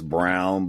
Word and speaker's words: Braun: And then you just, you got Bruce Brown, and then you have the other guy that's the last name is Brown, but it's spelled Braun.